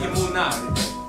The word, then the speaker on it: Emunah: Father's leading us talking about his word, Emunah, which means faith. That's how you say it in the Hebrew.